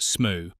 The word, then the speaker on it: Smoo: Pronounced Smoo, rhyming with goo, and derived from the Old Norse word meaning to creep through a narrow cleft.